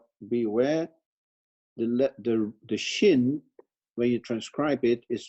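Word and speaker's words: ש: Of course, this one is sin with a final nun, and this one is pronounced as shin.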